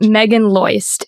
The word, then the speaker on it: Meagan Loyst: Am I pronouncing that Yes, correct? Meagan Loyst.